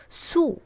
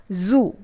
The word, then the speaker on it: zoo: Zoo is mispronounced as Su. It's not Su but Zoo.